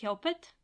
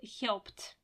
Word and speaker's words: helped: reminding about the pronunciation it is not pronounced helpet it's pronounced helped have you finished the